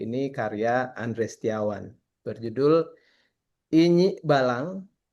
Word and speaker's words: Inyik Balang: Jadi kita malam ini eh, ingin merayakan ya dan mengapresiasi buku Indonesia yang kali ini karya Andre Setiawan berjudul Inyi Balang. Kalau pronunciation Minangnya Inyak Balang.